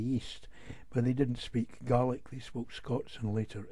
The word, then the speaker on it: Gaelic: you have the gaels speaking garlic which is how we pronounce it by the way and they're typified by